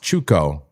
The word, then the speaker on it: Chuco: He says it's pronounced Chuco. Chuco. Okay, Chuco, like Spanish. Okay, not like Chuck.